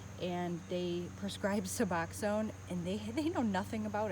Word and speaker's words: Suboxone: and they prescribe Suboxone, and they know nothing about it.